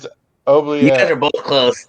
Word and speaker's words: oubliette: definitely did not spell it right. I know I did, but it's fucked. What do you got? Obligé. No. No. Oubliette.